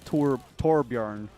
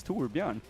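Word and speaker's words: Torbjörn: pronounce his own name it's not torb yarn it's too Urban like come on um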